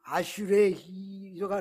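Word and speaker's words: אַשְׁרֵי: 이 복을 히브리어로는 아슈레, 여기 뒤에 이자가 묵음이에요. 아슈레가 나오는데 그냥 아슈레라고 이렇게 읽더라고요.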